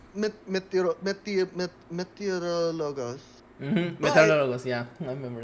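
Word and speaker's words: meteorólogos: Now it's pronounced meteorologos.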